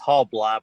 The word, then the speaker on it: Halbleib: It's been butchered for the last 51 years of my life, but it's Halblieb with a long I.